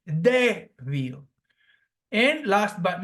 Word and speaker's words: débil: The same goes with débil, weak. That again, there are two syllables here, débil, and the phonetic sound is stressed on the second syllable from the end, débil.